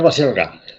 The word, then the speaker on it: Baselga: a pronunciar tu apellido baselga no Pilar baselga Sí tú piensa en basílica ya bien Bueno pues hoy